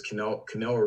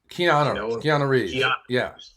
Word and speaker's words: Keanu: at halftime what does i think it was canelo reeves how you say his name um keanu so keanu reeves was the quarterback and he